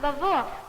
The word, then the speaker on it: Lwów: L-W-O-W, Lwów. Teddy, perhaps there's someone in the room whose people came from Poland who could pronounce that word for us. It's pronounced Lwów.